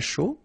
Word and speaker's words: chaud: Un chocolat chaud. Remember, C-H, ch, chaud. Chocolat. And then final T not pronounced. Chaud. Final D not pronounced.